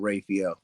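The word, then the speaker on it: Raphael: s h a w n rayel I pronounce the A on Rafel um but thank you so much and um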